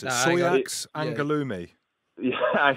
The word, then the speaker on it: Angoulême: We've got the name here, but I can't pronounce it. Soyax Angoulême.